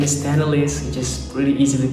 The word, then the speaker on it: Tennalis: If you're new to the channel, my name is Tenelisss, which is really easy to pronounce. For Indonesian friends, my friend from Indonesia, you can just call me Tenelisss, something like that.